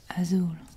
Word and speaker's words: azul: The next color is blue, as you would say in English, but in Spanish, you say azul. This is azul. And you spell it A-Z-U-L.